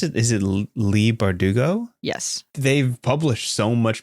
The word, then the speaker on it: Leigh Bardugo: a big difference though yeah how do you pronounce it is it Lee bardugo yes they've published so much material as you've